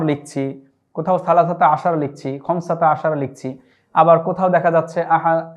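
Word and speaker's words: خمسة عشر: যোগ করে 15 যেভাবে বলি আরবিতে সেটি হচ্ছে খমসাতা আশার। এগুলো এই যে কোথাও আমরা আহাদা আশার লিখছি, কোথাও সালাসাতা আশার লিখছি, খমসাতা আশার লিখছি, আবার কোথাও দেখা যাচ্ছে এহদা আশার হবে, কোথাও দেখা যাচ্ছে সালাসা আশারতা হবে।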